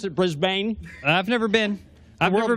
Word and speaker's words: Brisbane: And that's how you pronounce it, Brisbane.